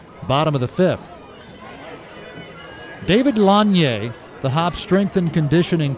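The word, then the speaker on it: Lasnier: conditioning coach David longier his last name is spelled l-a-s-n-i-e-r and everybody calls him laser pronounced longier and this may be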